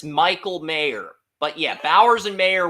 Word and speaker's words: Mayer: It's Mayer. It's Michael Mayer.